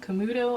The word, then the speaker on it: Camuto: by a Vince Camuto commute Camuto i think is how it's pronounced it's got a really